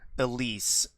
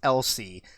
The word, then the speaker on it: Elsie: i mispronounced her name i think i said elise and her name is elsie elsie gene mondavi there